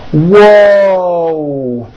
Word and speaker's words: whoa: Whoa. There's a W sound at the beginning of that, but there's also a hidden W sound at the end.